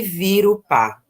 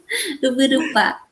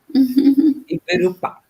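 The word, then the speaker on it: Yvyrupa: da Comissão Guarani e Virupá. É assim que se fala, Geni? A minha pronúncia? Quase. Ibirupá. Ibirupá.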